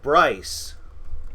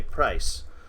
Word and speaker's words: Price: His name is Price. Oh, Bryce. Price. P-R-I-C-E. Yes. Oh, okay, Price.